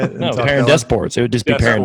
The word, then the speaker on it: Perrin DesPortes: No, Perrin DesPortes.